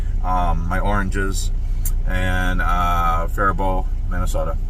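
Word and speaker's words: Faribault: Anyway, and the next morning I unloaded um my oranges and uh Farbo, Minnesota. And it's Farbo, not Farbolt. The L and the T are silent.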